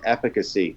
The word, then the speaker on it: efficacy: The word of the week next week is efficacy. Okay, everybody? Efficacy? Mm-hmm. Not efficiency. No. Efficacy. Efficacy, not efficiency.